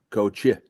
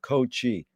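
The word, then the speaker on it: Cootje: Co, I was like Coach, which is like little Co, like Frank, Frankie, Steve, Stevie, Coach. Wow. So it's spelled little as K-C-O what? How do you spell that? Coachy.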